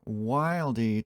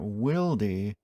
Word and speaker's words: Wilde: Hey guys, got another Wilde tool to check out today. Apparently, I was still pronouncing it wrong in the last video. It's not Wilde, it's not Wilde, it's Wilde.